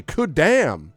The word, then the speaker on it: Khuddam: the 7 Kudam, Khuddam, to which you're supposed to say, "Good damn," that's how you say it, of Orguz are named on our adventure sheet, and you can see the names there.